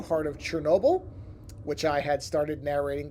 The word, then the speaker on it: Chernobyl: the one before, pointing out that it is pronounced Chernobyl no matter how it's spelled, which I had a hunch, but I do like to check on these things.